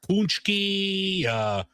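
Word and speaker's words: pączki: Is that how you pronounce it? Well, you could ask 10 different people, but punchki, Pachki.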